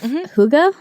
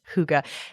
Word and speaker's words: hygge: It's the epitome of hygge.